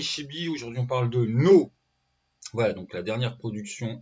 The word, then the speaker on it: Ѝ: Entre parenthèses, ça se prononce No, parce que le titre, c'est un gros N avec accent.